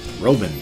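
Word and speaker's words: Roeven: pronounce my last name and it's german is pronounced exactly the way it spelled r 0 e ven roben thumbs up on that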